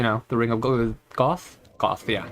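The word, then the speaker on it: Gough: that's what i believe it was confirmed at one point that is pronounced goth and not go the same for smo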